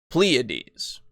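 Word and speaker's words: Pleiades: that word uh ple pleades oh okay sorry pleades I looked it up uh so a band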